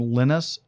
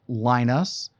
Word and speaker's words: Linus: by a guy named Linus Torvalds. Now, you may say Linus. He does not pronounce his name Linus.